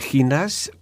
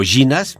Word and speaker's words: Jinas: hay otro caso de estado de ginas o ginas yo le digo ginas porque se escribe con j cada aquí cada uno